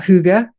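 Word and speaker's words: hygge: we talked about your book um All About Huga am I saying it right I always you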